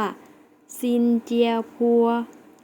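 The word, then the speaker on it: 新加坡: สิงคโปร์ นะ คะ เรา จะ ออก เสียง ว่า ซินเจีย ครัว ซินเจีย ๆ แล้ว ออก เสียง สิ คะ เก่ง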